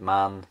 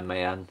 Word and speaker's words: MAN: Yeah I call it man. Some people might call it mann but it doesn't really matter how you pronounce it.